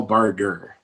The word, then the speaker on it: Barger: your name it's barger barger yeah i pronounce it differently our family pronounces it differently than the sunny bar juror that most people are familiar with okay cool so good